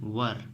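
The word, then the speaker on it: were: इसे ध्यान दीजिएगा हम लोग वर पढ़ते हैं। इसे वेयर नहीं पढ़ते। इसका सही प्रोनाउंसिएशन होता है वर।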